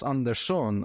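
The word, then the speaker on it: Andersson: got like you got Rasmus andon I saw today that's how you pronounce his name in Swedish uh he's super impressive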